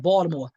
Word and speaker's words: Baltimore: You gotta say it like that, Baltimore.